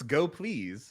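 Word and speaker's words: gopls: gotta like i mean they told us it's go please so okay like that's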